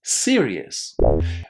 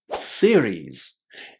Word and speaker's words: series: Lots of students think that we should say it as serious. But if you say serious, you're actually saying this word. This is serious. This is series. Exactly like the plural of the ai. Siri. Series. Very very simple. Just remember plural of Siri.